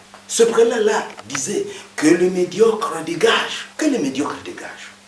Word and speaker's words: médiocre: Vous voyez que je dis médiocre. J'avale le E. Ça, c'est à cause de l'autorité morale de l'orthophonie. Tous les E muets sont avalés dans un mot. Médiocre. Et le R est roulé. Médiocre. Le premier E porte un accent et on dit médiocre.